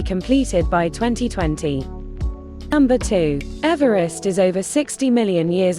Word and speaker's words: Everest: in honor of Sir George Everest and therefore should be pronounced Eve rest not Everest as per the pronunciation of the British surveyor's surname Everest was originally named